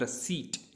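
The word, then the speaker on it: receipt: इसी तरीके से हमारे पास है रसीप्ट, रसीप्ट, इसमें पी साइलेंट हो जाता है, इसको पढ़ते हैं हम रसीट।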